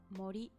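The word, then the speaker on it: 森: You can read it as mori.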